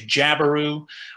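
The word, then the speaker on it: jabiru: Some people say jabaru, which I think is fine. Some people say habaru. That's just kind of how I pronounce it.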